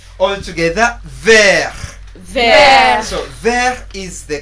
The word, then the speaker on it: vert: All together, vert. Vert. Vert. Vert. Now in French, the letter R is really very, very important.